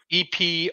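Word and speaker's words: epoché: EPOCHE with an apostrophe with an accent on the last E.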